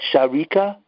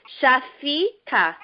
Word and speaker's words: Shafika: Is that Sharika? No, it's with an F. With an F. Shafika.